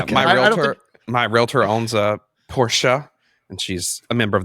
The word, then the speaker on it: Porsche: My realtor owns a Porsche, and she's a member of the Porsche Club, and she goes to North Carolina with her Porsche.